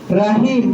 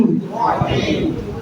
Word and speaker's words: রহিম: রা জবর রা পড়ছেন কিন্তু উচ্চারণ মূলত কি হবে? র জবর র সব জায়গায় বলবেন রহিম রজিম রজিম রজিম জোরে বলেন রজিম রজিম কখনো রাজিম বলবেন না রাহিম বলবেন না কি বলবেন রহিম সবাই জোরে বলেন রহিম